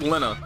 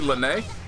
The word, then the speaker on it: Linne: end of my time just like Linna house is supposed to be Lynnae I mean a is